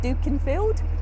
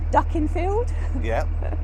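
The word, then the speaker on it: Dukinfield: pronunciation on that as i did duken field uh pronounced ducking hope that's right um but there you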